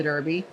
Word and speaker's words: Derby: So Desiree, you just come back from a derby party. Is that right? Yeah, so you're pronouncing that incorrectly. Okay. It's the Derby.